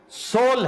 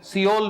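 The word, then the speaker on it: Seoul: इसी तरह साउथ Korea का कैपिटल सोल है। 90% हमारे पाकिस्तानी दोस्त उसे सियोल पढ़ते हैं। क्यों? उसके स्पेलिंग सियोल वाले हैं।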